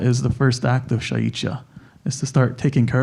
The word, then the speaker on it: šáíč’iyá: And in Lakota culture and lifestyle, we have a belief, and they call this, in a way it's thought of as shaichia, is how you say it in Lakota.